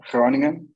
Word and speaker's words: Groningen: the name is g-r-n-n which stands for hroningen if you if you uh say throning in as the locals say it it actually sounds like that spoken like that so it's a into